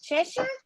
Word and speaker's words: Cheshire: to check the comments so she's in chess c-h-e-s-h-i-r-e cheshire cheshire hold on i'll check inside i'm sorry